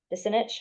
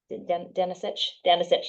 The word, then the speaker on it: Denisich: and the secretary, Tracy Desinich. Am I pronouncing it correctly? Denisich, there we go.